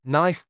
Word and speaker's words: knife: a book why was knife spelled with a K but pronounced without one Jack's frustration grew his